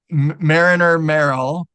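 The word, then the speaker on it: Marriner Merrill: and Mar marinel Marl I keep pronouncing his name wrong Mariner Merill there we go um they they died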